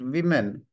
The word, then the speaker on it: women: plural we pronounce it women we pronounce it women not we we don't pronounce it woman we pronounce women we change o into I when we pronounce it because of I in